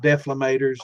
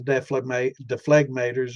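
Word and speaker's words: dephlegmator: Uh, but one of them pronounced it with the G, one didn't. So I guess there's more than one way to pronounce it. I've heard people call it deflamators, and I've heard the deflegmators or deflegmators.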